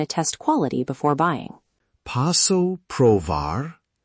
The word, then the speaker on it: posso provar: Posso provar? Pronunciation, P-O-S-S-O, pro-V-A-A-R.